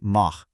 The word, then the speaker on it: mar: If the R is at the end of a syllable, like mar or porta, it honestly sounds exactly like the English letter H in house. Mar becomes this nice raspy mah.